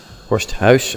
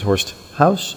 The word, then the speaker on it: Horsthuis: This is Horsthaus. Horsthaus, actually, but you can just pronounce it Horsthaus if you want. It means the same in Dutch. So, this is a little tutorial that I did.